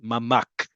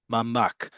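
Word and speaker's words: ממ״ק: Like I said, Mamak. Mamak. Melchav Mugan Kumati. A floor based protected space. It's called a Mamak with a kuf at the end.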